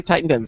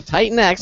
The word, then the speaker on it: Titan X: And I have to think, because I always want to say Titan 10. So Titan X, I'm going to make sure I have the pronunciation right.